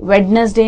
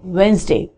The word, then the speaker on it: Wednesday: Wednesday नहीं होता, it's Wednesday. Wednesday.